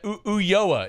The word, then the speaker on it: Ulloa: Ulloa is how they say it.